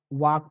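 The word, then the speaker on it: walk: मतलब होता है चलना अब देखि यहां पर एल साइलेंट है आपको वाक पढ़ेंगे वाल्क नहीं पढ़ेंगे ठीक है और इसका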